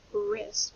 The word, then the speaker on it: wrist: Next, when we hear wrist, that R sound is spelled with a W-R.